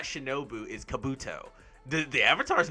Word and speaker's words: Kabuto: no i said the same name i just pronounced it differently both times sorry but it's kabuto the guy with the glasses yeah he he